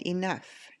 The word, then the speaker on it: enough: further further oh you rough and enough the GH sounds like the F sound rough and enough the